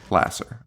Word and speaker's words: Lasser: how do you say her name Louise Lasser Lasser okay Lasser she was married to uh Woody Allen for